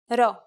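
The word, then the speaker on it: ρο: pero itsan is and is exactly like the English r wouldn't it be nice if the shape looked the same as the English art nope unfortunately it looks like an English p close but not close enough you'll just have to remember to pronounce this letter as an R here's the uppercase hero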